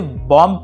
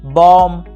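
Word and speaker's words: bomb: आपने यहाँ पे बी का साउंड क्रिएट किया, जबकि यहाँ पे बी का जो साउंड होता है वो साइलेंट हो जाता है और उसे कुछ इस प्रकार से पढ़ा जाता है, बॉम्ब, कॉम, थम, डम और क्लाइम।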